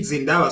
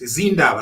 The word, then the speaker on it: Zindaba: Now I like the way you are pronouncing Zindaba Soko. I said Zindaba Soko, but you were correct, Zindaba.